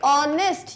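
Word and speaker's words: honest: ऑनेस्ट, ये वाला pronunciation आ रहा है जो कि एक वोवेल साउंड है, तो क्योंकि एच है तो ए मत लगाना, यहाँ आ जाएगा एन ऑनेस्ट मैन।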